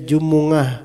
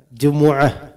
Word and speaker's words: Jumuah: baca salattil Jumuah ya bacaan yang benar sebenarnya Jumuah itu sesuai bahasa Arab nah di Indonesiakan menjadi Jumat nah orang Jawa itu lebih benar dalam membaca Jumuah maka orang Jawa Bacanya apa jumat atau Jumuah Jumuah itu asli gitu walaupun yang tua-tua agak sulit juga tetap salah juga udah benar tetap salah bacanya jumungah Nah ini salah ya Jumuah ya itu yang benar I orang Jawa Itu